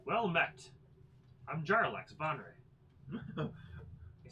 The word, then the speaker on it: Jarlaxle: Jarlax. Okay. Yeah, of House Bonre. Good, let's spell that. Jarlaxle. See? Oh, AX. AX what? It's like Jarl Axel.